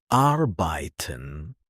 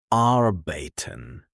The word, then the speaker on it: arbeiten: Try tag house kind clear sharp finished German usually stresses the first syllable. Not always, but often. For example, Wasser not Wasser Wasser Try Wasser another arbeiten arbeiten not arbeiten This rhythm helps you sound natural.